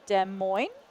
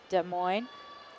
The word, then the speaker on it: Des Moines: um thank you to Michelle for correcting my pronunciation uh It's Des Moines I think not just like I'm trying to